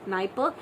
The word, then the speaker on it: Dnieper: Okay, so the famous or the largest river in the Europe is the Dnieper, Dniper, Dnieper. So D is silent, Dnieper, and river Volga, Volga.